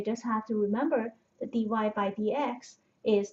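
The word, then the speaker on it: dy/dx: written down as d y by DX it's pronounced d y by DX um but this is not a fraction well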